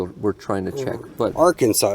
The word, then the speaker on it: Arkansas: and then ah Arkansas some people might call it Aransas but it's Arkansas Aransas good people good